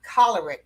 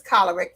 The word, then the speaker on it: choleric: to when she explained the word is choleric from the root word cholera and I said oh